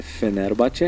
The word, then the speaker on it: Fenerbahçe: Na verdade, são 3 times ali com um investimento maior, que é o Fenerbahçe, que eu aprendi agora, a pronúncia é Fenerbahçe.